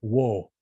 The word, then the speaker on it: Wo: So Ik-at is written, but they're saying wo. The VO in the 16th century is just wo as a sound.